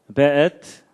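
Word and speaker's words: וְאֵת: 그 다음에 앳, 하샤마임, 베엣. 요게 이제 W인데도 여기에 독일식 발음을 해서 베 이렇게 읽는다고 합니다.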